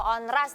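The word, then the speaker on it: Onrust: Pulau Onras nih ya bacanya ya.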